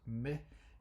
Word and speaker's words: mais: this in the word mais in French. These point to the exceptions that are added into a center thinking. So it's pronounced as E, but it is written as I.